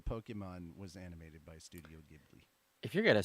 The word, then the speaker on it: Ghibli: In a world where Pokemon was animated by Studio Ghibli. No. First off, I don't have the energy. Secondly, I fucked up because it's actually pronounced Ghibli. Ghibli.